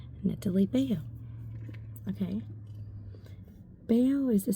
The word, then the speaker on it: Netalie: It said Netalie Bayo the whole time. At least he didn't say her name was Natalie, right? She hated being called that. Her name was Netalie, okay?